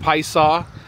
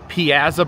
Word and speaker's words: Piasa: of the P saw and yes it is pronounced P saw um I I was first time I was here I tried calling it The pza Bird and I was corrected by locals or